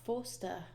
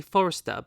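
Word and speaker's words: Marc Forster: I keep wanting to say Forrester, but it's not. It's Forster. I made sure to pronounce it properly.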